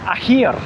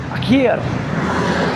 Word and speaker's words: akhir: And um you don't have to say it like that sound. You know that kh sound you might get from loch in Scottish or in Arabic they've got that real kh sound.